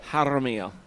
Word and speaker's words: Haro: that zann can't pronounce Haro Haro you got you got to roll your tongue a little there you go there